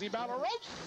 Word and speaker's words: Ibarrosa: guy doing the PA, how do you pronounce that guy's name? And he goes, Ibarrosa.